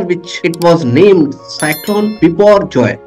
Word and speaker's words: Biparjoy: June 6 after which it was named Saturn before Joy pronounced as before Joy this is Bangla name recommended by Bangladesh means